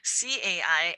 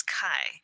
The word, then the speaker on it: 财: pronounce XI, and you don't know how to pronounce CAI as Cai, not as Kai.